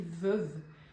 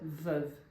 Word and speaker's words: veuve: E ela fala, je suis veuve. Só que na verdade a pronúncia é veuve. De Veuve Clicquot, daquela champanhe.